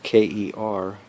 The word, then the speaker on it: Kervran: Kervran is spelled Kervran, Kervran, Louis, a French name, Louis.